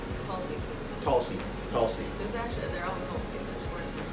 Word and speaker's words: Tulsi: How do you pronounce it? Tulsi? Tulsi.